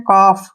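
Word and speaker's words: calf: काफ नहीं पढ़ना है काफ डायरेक्टली काफ ऐसे काफ पढ़ें काफ क्योंकि एफ से पहले एल आया तो एल जो है साइलेंट रहेगा इसमें इसमें उसका उच्चारण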